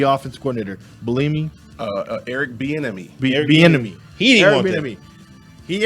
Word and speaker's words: Bieniemy: I can't pronounce his name. Can you give me the Kansas City offense coordinator? Bellamy? Eric Bieniemy. Bieniemy.